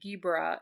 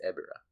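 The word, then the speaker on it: Ebirah: Who was intended to fight Ghibra in Ghibra Horror of the Deep, the 1966 movie? Ghibra? How do you pronounce it? There's no G. It's Ebera.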